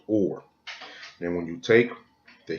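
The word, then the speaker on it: אור: Now when you go to that Hebrew reference number 216, this is the Hebrew word, and it is pronounced or.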